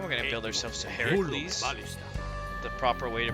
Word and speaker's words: Heracles: And we're gonna build ourselves to Heracles. The proper way to pronounce that.